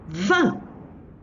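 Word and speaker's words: vingt: And the last one, 20. Don't pronounce the G.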